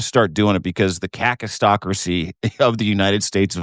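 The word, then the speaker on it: kakistocracy: Caucas just go hard on the A. Cistocracy.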